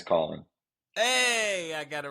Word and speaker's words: Caulen: Is it Caulen? Yeah, it's Caulen. It's Caulen.